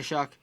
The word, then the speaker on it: Shuck: Shuck oysters. Okay, Shuck.